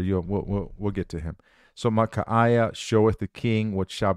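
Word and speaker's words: Michaiah: It's not Micah. It's spelled M-I-C-H-A-I-A-H. Micaiah.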